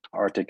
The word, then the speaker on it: RTIC: Arctic is spelled RTIC.